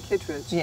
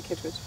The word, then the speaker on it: Kitteridge: I say Kittridge, but it does have that E in there, so if people say Kitteridge, I don't blame them at all. Okay. But I say Kittridge.